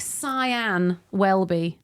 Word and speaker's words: Sian Welby: name or pronounce it don't write sha don't write scen write it like cyan wellby yep that makes sense